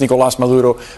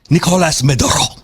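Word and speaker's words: Nicolás Maduro: You don't pronounce his name Nicolas Maduro. Nicolas Maduro. You don't do that. You're speaking English.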